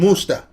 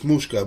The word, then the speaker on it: Mushka: Musta. Mickey Mouse. I said it wrong. It's Mushka, but whatever.